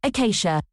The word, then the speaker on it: Acacia: Second, it is clearly pronounced Acacia, the Acacia Dragoons.